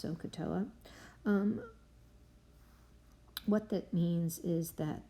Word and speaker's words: SOHCAHTOA: way of helping us remember it and it's pronounced sohcahtoa what that means is that the sine of